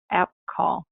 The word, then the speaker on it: AppColl: I don't have this one on the slides, but we do have another webinar about a different docketing system called AppCall. AppCall is spelled APPCOLL.